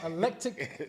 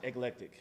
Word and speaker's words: Eclectic: say it how it looks let's talk about Electic is it Electic or electric Alabama can you talk about how do you pronounce it eclectic ectic you got that Josh how do you